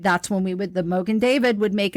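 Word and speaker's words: Mogen David: any kind of big dinner or anything have David moan wine am I saying it right Mogan David oh I got the names the David Mo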